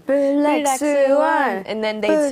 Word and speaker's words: 블랙스완: Yeah, except, with the Korean pronunciation, it would be 블랙스완. 블랙스완.